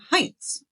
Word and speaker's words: Heinz: This video was recommended by a subscriber, Heinz. Okay. Am I saying that right? Yes. Okay. If it's spelled the way I think it's spelled.